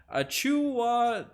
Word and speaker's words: Achiuwa: but man oh ca is coming in with the proper pronunciation a chuwa tatum kumpu